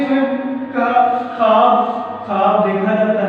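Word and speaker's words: خواب: और ख्वाब में तलफ़्फ़ुज़ के हवाले से एक बात बता दूँ, बच्चे इसको ख्वाब पढ़ते हैं, यह वाव लिखा जरूर जाता है लेकिन ये साइलेंट होता है।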